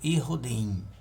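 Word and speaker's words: יהודים: em verde aqui ó judeus em hebraico né é pronunciado ir rudim né O M eu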